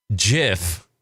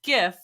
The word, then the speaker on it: GIF: It's pronounced GIF because the G stands for graphics, which is G.